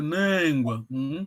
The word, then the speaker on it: Nengwa: Il faut bien prononcer la voix longue, Nengwa.